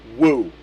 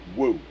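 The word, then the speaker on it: 武: The one on uh Kung Lao is Chinese for warlike and it's pronounced woo. Wu woo.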